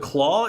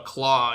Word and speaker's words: Klaue: I didn't realize, but Claw is not spelled phonetically. It's spelled like Dutchly. It's like Klaue or something. It's like claws without an S.